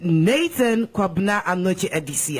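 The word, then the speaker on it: Nathaniel Kwabena Anokye Adisi: Undoubtedly, Nathan Kwabna Anoche Edisi. Am I saying it correctly? Correct, Nkechi. You're right, spot on.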